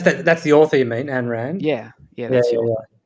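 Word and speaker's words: Ayn Rand: um yeah that's that's the author you mean ann rand yeah yeah that's your wife have you have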